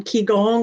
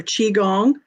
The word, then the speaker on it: qigong: was a precursor yes he's actually doing ki gong or qigong in japanese it's called kiko or kaiko and in america we call it qigong or kigong and that is the